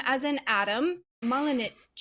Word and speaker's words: Malinic: We have Radim, as in Adam, Malinic. Did I say it correctly? Malinic. Absolutely, yeah.